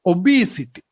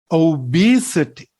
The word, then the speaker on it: obesity: quran we don't say obesity that is what we hear in sri lanka but it must be the second syllable so we have to say obesity now read these examples